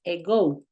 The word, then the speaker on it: ago: utilizar mucho que es ego ego se escribe ago pero se pronuncia ego y significa básicamente hace